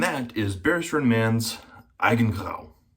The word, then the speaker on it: Eigengrau: And that is Barrister and Mann's Eigengrau. Or Eigengrau, if you don't speak German.